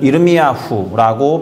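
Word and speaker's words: ירמיהו: 발음은 이르미야후라고 발음되는데요.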